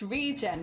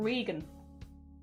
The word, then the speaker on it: Regen: in and be like no jelly that's not how you pronounce that it's regen not Regan sorry my bad it's